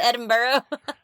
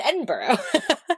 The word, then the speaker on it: Edinburgh: Is it Edinburghough, Scotland? Edinburghough probably. You know how good I am at pronouncing things. I mean, it looks like Edinburg. Man, way to call me out. I thought I was doing great on that word. Uh um that was a joke. I definitely know it's pronounced Edinburgh.